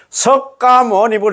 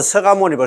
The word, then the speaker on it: 석가모니불: 연등 행렬 하고 할 때 그때 보면 우리 절 말고 다른 절에가 보면 막 석가모니불 석가모니불 그렇게 해서 하시더라고. 그건 틀린 거예요. 섭가모니 불로 돼 있지만도 발음은 서가모니불 서가모니불 이래 해야 된다이 말입니다.